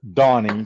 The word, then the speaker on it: Danny: I am your host Donnie although it's spelled Danny it's not it's pronounced Donnie because it's sou African